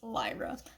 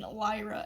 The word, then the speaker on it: Lyra: Trilogy we learned that her name is definitively pronounced as Lyra because someone calls her a liar and then the um narration I guess points out these similarities in Lyra and liar and I'm like well